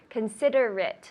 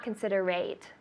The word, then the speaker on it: considerate: it right be considerate consider it so not consider rate consider it one more time consider it perfect good are you a